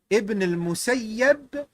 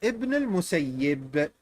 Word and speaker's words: Ibn al-Musayyib: And look, you can pronounce it in both ways. Ibn al-Musayyib or Ibn al-Musayyib.